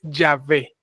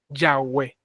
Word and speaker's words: Yahvé: eroditos bíblicos, la más la traducción más correcta y más cercana a la original es Yahvé. Yahwé.